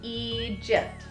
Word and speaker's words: Egypt: This is Egypt. So this long E is because of the split. It's right before the split. Now the G says the J sound because remember G-I-G-E-G-Y, J, Egypt.